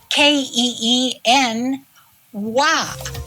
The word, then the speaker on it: quinoa: spelled q i n o a and it's pronounced ke n w so this is what quinoa looks like before it's prepared and it tastes